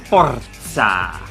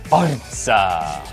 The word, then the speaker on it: Forza: It's Forza. Forza.